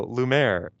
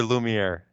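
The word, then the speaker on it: Lumière: uh Moana okay no Lum Lum or lumere is there that extra syllable in there okay so if you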